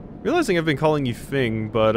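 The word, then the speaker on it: Feng: Realizing I've been calling you Fing, but I have heard that this name can also be pronounced Fong, depending on where you're from and where your name originates from. I'm probably going to keep going with Fing, just because, I mean, it's what I default to, but it might be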